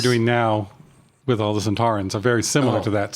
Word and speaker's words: Sontaran: Well, he's also the reason we call him Sontarans with the accent on the second syllable. Oh, instead of Santarans? No, Sontaran. Sontaran.